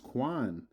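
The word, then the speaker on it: cwēn: All right, queen comes from the Old English quan, pronounced quan, and meaning queen, wife of a king.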